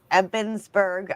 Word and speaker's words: Ebensburg: I was there last year and um it's in the old jail in Old Stone Jail in Ebensburg.